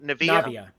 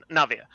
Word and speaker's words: Navia: Navia. Navia.